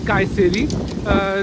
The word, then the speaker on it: Kayseri: But it's Kayseri.